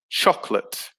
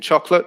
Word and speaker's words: chocolate: disappears it becomes government number three chocolate so it only has two syllables so the middle o disappears it becomes chocolate so yeah the o in uh in in chocolate disappears the second o um number four muscle